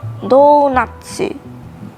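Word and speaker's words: ドーナツ: right what else donut donut in japanglish is pronounced as donatsu and juice is jusu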